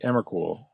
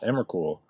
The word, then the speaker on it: Emrakul: I remember people used to pronounce it like Emrakul, but Emrakul.